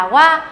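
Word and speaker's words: は: ý cho các bạn Đấy là qua viết là 2 nhưng đọc là hoa còn đề sự ở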